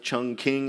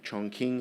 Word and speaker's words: Chongqing: capital to Chongqing Chongqing we'd called it Chung King at the time but I forgive my pronunciation Chong Queen Chongqing at this time currently so streams of